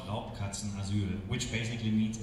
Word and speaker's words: Raubkatzenasyl: The charity for this year is the, let me see if I pronounce it right, Raubkatzenasyl. Yes, it's called Raubkatzenasyl, which basically means it's a home for abandoned big cats.